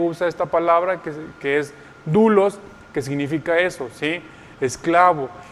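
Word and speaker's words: δοῦλος: siervo, es la palabra, se escribe doulos, se pronuncia doulos, ¿sí?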